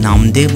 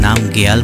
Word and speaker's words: Namgyal: वगैरह भी होता है और यह नामदेव मोनेस्ट्री नहीं है नाम गयाल मोनेस्ट्री के नाम से जाना जाता है मैंने गलत उच्चारण किया उसके लिए आपसे माफी